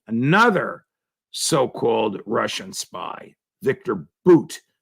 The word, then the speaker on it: Bout: so-called Russian spy, Victor Bout, spelled B-O-U-T, but pronounced as if it were B-O-O-T.